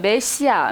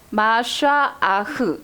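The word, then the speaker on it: מָשִׁיחַ: 우리 우리 발음으로 하면 메시아 메시아는 어디서 들어봤죠 메시아라고 읽는데이 히브리어 발음으로 정확하게 읽으면 마샤 아흐 이렇게 읽는 거예요 이게 그리스도라는 뜻이에요 그런데이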